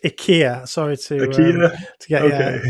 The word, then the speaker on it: IKEA: It's actually pronounced IKEA. Sorry IKEA. to get Okay. That's how they pronounce it in Sweden anyway.